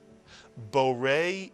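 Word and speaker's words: בורא: The first syllable is bo, Mitsuyan, and the second syllable, re, Mitsuyan. Put the word together. Borei is correct, and now the entire phrase, Borei pri hagafen.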